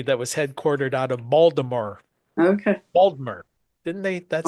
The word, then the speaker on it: Baltimore: So I used to work for a company that was headquartered out of Baltimore. Okay. Baltimore. Didn't they? That's how they Balm, pronounce it, like Balmer. Balmer?